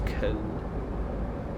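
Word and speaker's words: Köln: on our way to con. I know it's Cologne in English, but I just prefer to call it con because that's the local pronunciation.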